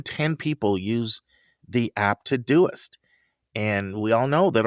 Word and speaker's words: Todoist: And it's just like it's spelled, Todoist, Todoist. And he said it was a complete game changer for me.